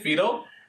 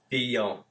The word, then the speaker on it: Fillon: How you say it? Fido? Fillon. Fillon.